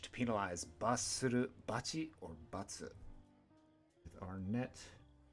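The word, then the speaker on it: 罰: Basuru, batsu, or bachi are our pronunciations for penalty and punishment. Radicals in this kanji are net, a word or a saying, and a knife or a sword.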